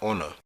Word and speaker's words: honor: Words with a silent H are pronounced with the vow first. An hour, an honor, an honest boy.